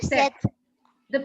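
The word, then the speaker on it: sept: seven is SE or SE the p is silent it's set okay okay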